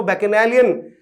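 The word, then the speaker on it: bacchanalian: यहां इसको बैकनैलियन आप पढ़ रहे हैं, सही प्रोनाउंसिएशन है, लेकिन यदि आपको याद नहीं हो रहा है तो आप ऐसे पढ़ लीजिए ना इसको, बचनैलियन, बचनैलियन।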